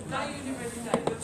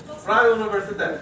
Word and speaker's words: Freie Universität: I'm Dutch, so especially the Brussels, Freie Universität. Freie Universität.